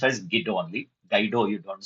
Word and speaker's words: Guido: Guido, it is to be pronounced as Guido only. Guido, you don't say. Guido van Rossum.